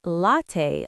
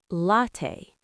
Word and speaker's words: latte: Some learners say latte like late, but it's actually latte.